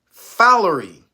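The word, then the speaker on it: fowleri: the that's the name of the bacteria naria fery f o w l e r i so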